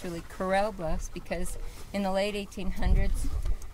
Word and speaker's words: Corral Bluffs: its name many people think actually many people pronounce it Coral Bluffs many people think it's Coral Bluffs but it's really Corell Bluffs because in the late 1800s Cattleman used this